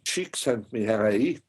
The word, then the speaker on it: Csikszentmihalyi: pronounced correctly you did a good job it's pronounced Csikszentmihalyi Hungarian yeah it's an old name means from st.